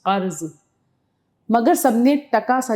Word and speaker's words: قرض: کچھ روپیہ قرض مانگا۔ اب دیکھیے قرض کا تلفظ، قرض، مگر سب نے ٹکا سا جواب دے دیا۔